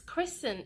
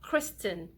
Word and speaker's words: christening: so it's really simple it becomes christen it's not Kristen when are you christening your baby no that's not correct it's not wrong but it's not entirely correct and we don't want